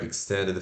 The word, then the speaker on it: extended: Se pronuncia assim, ó, você escreve E-X-T-E-N-D-E-D, né? Extended. Mas se pronuncia stand, did. Tá? Então, I curto K, stand, o E de ela, stand, D, I curto D, did, extended.